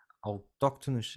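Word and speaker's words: autóctones: pessoas que são TM dificuldade em pronunciar Esta palavra em português autóctonos é assim que se diz né as pessoas que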